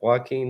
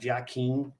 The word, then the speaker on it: Joaquin: My stepdad said, "You know that guy Joaquin?" Oh man, Joaquin. Well, if you look at the way it's spelled, you Yeah. really, unless you've heard it, you don't know.